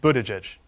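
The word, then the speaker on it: Buttigieg: how to pronounce your last name sure it's pronounced Budaj but back home everybody just calls me Pete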